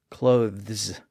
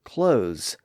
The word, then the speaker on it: clothes: distinction by the way it's really difficult to pronounce that voiced th sound before an s clothes it's very awkward and that voiced th sound tended to disappear in words like that that's why many people